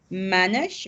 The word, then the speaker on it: manage: silent e remember in when you have an e at the end of the word you don't finish it you say something like manage manage it i don't